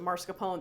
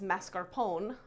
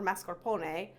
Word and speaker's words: mascarpone: sugar high quality marscapone also it's you don't pronounce it marscapone that's how me and lots of people from the Northeast pronounce it uh it's mascarpone or mascarpone um this it is important to use a